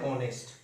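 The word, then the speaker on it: honest: That's why एन ऑनेस्ट person. N और ए का sound आ रहा है, दैट मीन्स एच साइलेंट, ए का in place of एच A sound is coming.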